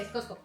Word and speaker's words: Costco: Yo o ni sea, siquiera pronuncio, o sea, yo ni pienso la T, es Costco.